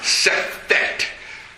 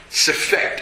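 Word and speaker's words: Sefekht: Sefekt. Sefekt. It's spelled S-E-F-E-K-H-T.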